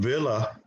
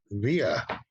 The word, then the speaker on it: Villa: it's a little different the l's don't sound like l's via via like pantomia right like paella something like that oh my goodness